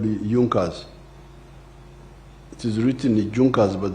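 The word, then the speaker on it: Junker: was there was a group in Prussia called Junas. It is written junkas but they pronounce it as junas.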